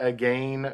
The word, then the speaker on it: again: You got to make sure that you pronounce the again very So British. it rhymes with very rain. British, Yeah. so it rhymes with rain.